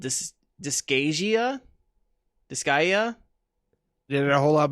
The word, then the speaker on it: Disgaea: you know not shovelware um i'm going to butcher the name of this next one it's called this disk dyskagia disgaea did it a whole lot better than i